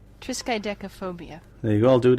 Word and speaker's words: triskaidekaphobia: of the number 13 this is how you pronounce it triskaidekaphobia yeah you all do it again triskaidekaphobia I'm